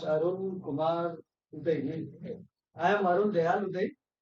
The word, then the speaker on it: Udai: Just like South, basically South So last one of Uday, you can call me Uday. It is UDAI. So little difficult to pronunciate that.